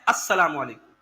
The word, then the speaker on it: السلام علیکم: صحیح تلفظ کیا ہے؟ السلام علیکم.